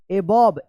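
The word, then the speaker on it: above: अबव ई silent रहेगा।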